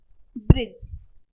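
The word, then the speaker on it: bridge: होता तो है ब साइलेंट होता है जैसे ब्रिज डी साइलेंट ग्रज जज ओके नेक्स्ट के साइलेंट रहेगा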